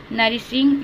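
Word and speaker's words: nourishing: ओ यू को हमने क्या पढ़ा है, ओ यू को हमने कुछ भी नहीं पढ़ा है, क्योंकि ओ यू यहाँ पर साइलेंट है।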